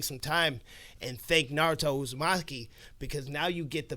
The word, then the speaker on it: Uzumaki: Uzumaki.